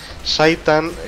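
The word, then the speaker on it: Zhaitan: Saitan vendría a ser la pronunciación de Zaitan, que es lo diré,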